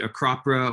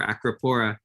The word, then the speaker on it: Acropora: higher temperatures for example you can pronounce it acropra or acropora the the branching they're